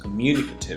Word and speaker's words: communicative: Communicative activity. Communicative is an adjective, and where is the stress? Where does it fall? And then you pointed out that this is on the second syllable, for example.